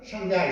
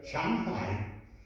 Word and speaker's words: Shanghai: Et tous les Français prononcent mal. Et ils prononcent Shanghai, Shanghai. C'est une liaison très dangereuse parce que Shang, c'est au-dessus. Hai, c'est l'océan supérieur. Shanghai.